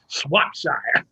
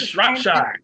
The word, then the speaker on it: Shropshire: Kenneth Hudson, for mispronouncing my name, Swapshire. It's Shropshire.